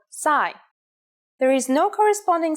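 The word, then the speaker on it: ψ: it in English called PSI there is no corresponding sound in English it makes up s sound like P and S said at the same time here's the uppercase C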